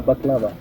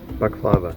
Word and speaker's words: baklava: Uh baklava. Baklava? Yeah. Oh, so it's not baklava. We've all been saying it wrong.